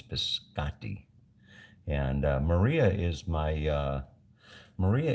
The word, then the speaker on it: biscotti: biscotti right I was I was told that's not biscotti it's biscotti and Maria is my